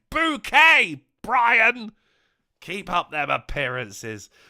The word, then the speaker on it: Bouquet: woman microwaving the tea it's pronounced bouquet Brian keep up them